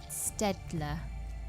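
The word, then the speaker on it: Staedtler: My favourite pens are the, I can never say it right, it's Stedler. Stedler pen.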